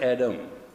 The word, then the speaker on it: Adam: But your pronunciation is wrong. There is no word Adam. The word is Adam. A means come, and Dam means breath of life.